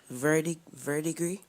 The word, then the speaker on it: verdigris: Your first word is verdigris. May you please repeat the word? Verdigris. Verdigris? Verdigris, yes. Am I pronouncing the word correctly?